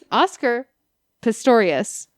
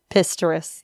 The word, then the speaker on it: Oscar Pistorius: Oscar Pistorius. He's the Blade Runner. Pistorius.